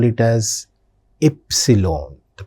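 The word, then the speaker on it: Ypsilon: This one we call it as epsilon. The pronunciation of this letter epsilon. In English we call it as Y. In German we pronounce it as epsilon.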